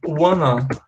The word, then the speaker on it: wanna: Acontece que no inglês falado, no spoken English, eles pronunciam want to, assim, ó, wanna, dizendo wanna.